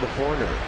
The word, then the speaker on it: Horner: Rhymes with corner. Bob Horner.